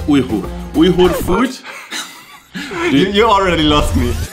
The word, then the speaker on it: Uyghur: today we are making lman lman is a weager or usek dish most people say weager but it's actually pronounced Ur food you already lost me okay let me